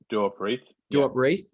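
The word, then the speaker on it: Duop Reath: that how you say his name wrestle yep do up wreath the only three bigs uh on on the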